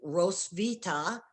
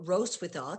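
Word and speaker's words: Hrotsvitha: the 10th century with rose vita or rose without depending on how you want to pronounce it she's considered to be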